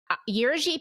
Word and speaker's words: Jerzy: about this priest, and I've been pronouncing it Jersey, but it's totally not right. How do you pronounce the name? Jerzy Papiuszko.